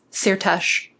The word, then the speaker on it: Szirtes: And in Hungarian, an S followed by a Z makes the simple S sound in English.